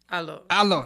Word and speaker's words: Aloh: Aloh. You pronounce it right.